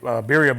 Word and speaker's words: birria: Birria, if you want to roll the R's a little bit. I'm not really good at that either, but birria is birria.